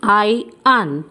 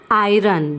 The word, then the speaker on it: iron: इसका प्रोनाउंसिएशन है आयन. What is the correct pronunciation? It's आयन and not iron. The correct pronunciation is iron.